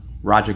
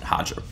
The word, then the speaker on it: Roger: would be like no it's not Roger it's hodger no when you talk to Roger Gracie he'll tell you his name's pronounced Roger he doesn't pronounce it hodger so there's that I